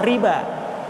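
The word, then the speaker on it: ربا: Dibacanya sama riba, tapi menggunakan waw.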